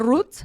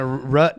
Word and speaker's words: root: it right that's okay the root no rut is that's Chico is Chicago rut is like when you hit something in your car is it yeah it's